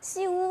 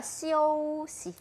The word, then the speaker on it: 休息: 근데 발음하실 때요. 시우 아니고요. 시오시. 시오시. 맞아요. 시오시. 시오시. 소만이는 오 발음을 해주셔야 돼요.